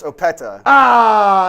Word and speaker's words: Opeta: Sua Opeta. Close. Opeta.